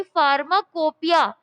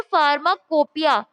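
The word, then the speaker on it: pharmacopoeia: मैंने आपको पहले ही बताया था, जो पुराने स्टूडेंट्स हैं उनको पता होगा कि फार्माकोपिया हम प्रोनाउंस करते हैं फार्माकोपिया, बट जब हम लिखते हैं तो हम लिखते हैं फार्माकोपोइया, COPOEIA।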